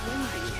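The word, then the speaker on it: Windi: Oh, the Wendigo's name is Wendy. It's spelled like W-I-N-D-I.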